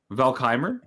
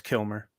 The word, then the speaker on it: Kilmer: joke that's so sad is that how you say his name Valk Heimer no it's Kilmer oh it's Kilmer I thought it was